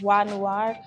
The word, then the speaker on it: Beau Noir: name my name is view noor it's actually pronounced why noir but i do go by either or beau either or